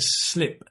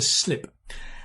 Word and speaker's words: slip: Notice the pronunciation, right? It's I, not E, right? To slip. If you sleep and you smile, when you smile, then it's to sleep. But this is to slip.